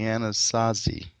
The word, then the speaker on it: Anasazi: For the longest time, they were known, I believe you pronounce it the Anasazi. The Anasazi?